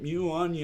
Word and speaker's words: muon: we have the mute and i can't even pronounce its mew Anjum mew mew on right muon um-- and that's an exotic atom made up